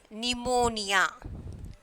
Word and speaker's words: pneumonia: Receipt we already seen that, and then pneumonia. So here P is there, but we are not pronouncing that P.